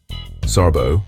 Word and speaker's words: Särbo: Särbo, pronounced Särbo, means living apart together.